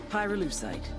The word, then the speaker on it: pyrolusite: yeah neither did I pyrolusite key syllable pyro by the way is